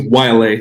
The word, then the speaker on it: Waialae: way of saying it waylay country club did i say it right i think it's yla but yeah close very close what's with all these